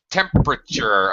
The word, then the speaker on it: temperature: hang on a second temperature okay actually for armando and everybody else this word has um this er syllable in the middle uh in english especially